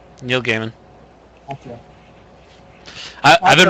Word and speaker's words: Neil Gaiman: e i m n g EI I long a is it's G okay it's G long a is in base so it's gaimon yeah it's Neil Gaiman I I've been right